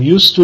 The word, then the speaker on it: used to: Note, in both used to, habitual past, and be used to, the D is not pronounced.